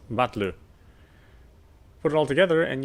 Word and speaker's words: Battler: The problem is my given name. Something is made up of characters for fight and person and is pronounced Battler.